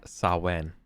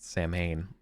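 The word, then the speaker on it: Samhain: halloween kind of thing is pronounced uh sawen not saman like a filthy american uh yeah that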